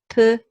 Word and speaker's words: pensionnat: chanteuse, and that is how it is written phonetically, chanteuse. Likewise here, pensionnat, pensionnat, and that is what that it sounds like in French.